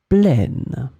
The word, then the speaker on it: plaine: In this lesson, we will see together two words that are written differently but pronounced the same way. Plaine, plaine.